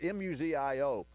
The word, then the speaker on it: Museo: we're going to have Micah Museo on its mu zio and and he's the